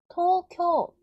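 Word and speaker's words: 東京: 하나 둘 셋네 개니까 그런데 우 소리가 안 나니까 장음의 규칙에 의해서 토랑 가 두 박식 나는 거죠 토쿄 토쿄 토우 우라고 한 발음하면 안 된다는 거예요 토쿄 토쿄 자 이해가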